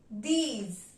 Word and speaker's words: dix: Number 10 will be pronounced as dees. Dees.